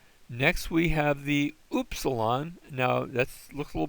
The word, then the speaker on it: upsilon: So that's the upsilon. And the sound it makes is like duty, the oo sound, upsilon.